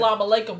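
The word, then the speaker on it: As-salamu alaykum: Anyway, this is a video, the biggest frauds ever by Osama Lama Ding Dong. Lama Ding Dong, yeah. My fault, twin. How you pronounce it, twin? Assalamu alaikum.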